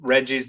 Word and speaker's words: RGGI: growing nicely and that reggie's the rggi that i read about that's correct yes much easier to pronounce reggie think yeah um so